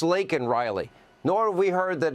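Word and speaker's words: Laken Riley: say her name Joe it's not Lincoln it's lakol Riley nor have we heard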